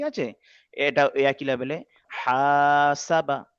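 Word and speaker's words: حَسَبَ: হা আলিফ জবর হা, সিন জবর সা, হাসা, বা জবর বা, মাশাআল্লাহ, হাসাবা।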